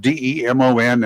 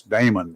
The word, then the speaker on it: Demon: got different names of it's spelled D e m o n and it's not demon it's Damon that's right that's what we've